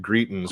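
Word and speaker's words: Greitens: former missouri governor eric greetings which right there we go i couldn't i'm like as as assistant rhymes with cretins yeah uh today we're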